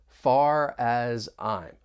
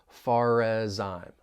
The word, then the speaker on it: as far as I'm: when pronouncing this phrase just be aware that linking may occur this is when we link the final consonant sound of one word with the beginning vow sound of the next word so think about the phrase far as I'm we can link those